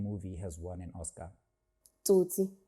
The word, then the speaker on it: Tsotsi: Tsotsi. Sweet. Or as the Americans say, Sosi.